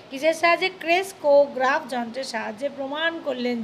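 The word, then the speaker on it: ক্রেস্কোগ্রাফ: কয়ে উকার কো গয়রাফালা আকার ফক গ্রাফ কে ক্রেসকোগ্রাফ, উচ্চারণ আমি কী বললাম, ক্রেসকোগ্রাফ।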